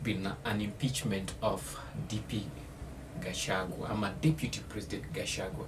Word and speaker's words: Gachagua: Okay, am I pronouncing this well? Gachagua. Yeah, Gachagua.